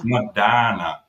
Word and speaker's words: Medina: It's Medina. Oh my goodness, they didn't even know the local pronunciation.